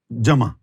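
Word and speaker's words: ذو: We pronounce it as zu, maybe that’s why we’re all living in a zoo. However, its actual pronunciation is not zu, it is dhu.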